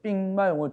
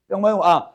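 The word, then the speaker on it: 兵马俑: 이 삥마용은 중국 발음이고 병마용이라는 곳인데 여러분 혹시 저기 아무도 안 가보셨죠? 네. 이 공간에서 유일하게 저만 가봤네요. 제가 2005년도에 21년 전에 저기 병마용 저게 오늘 이 바벨탑과 거의 똑같습니다.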